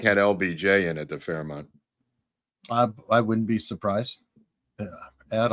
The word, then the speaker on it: Fairmont: And as you can, the Fairmount in Dallas. Thank you, Cocktails. I think it's pronounced Fairmont, but okay.